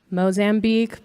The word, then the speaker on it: Mozambique: Do you pronounce it Mozambique or Mozambique? Mozambique, but like if you're saying it in Spanish, it's like Mozambique.